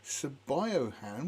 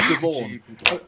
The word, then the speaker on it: Siobhan: my from favourite Ireland pronunciations is Siobhan, because it's spelt Sabiohan. And the first time I saw it, I was going, Sabiohan? What the hell's name is that? Sabiohan? And somebody said, it's Siobhan.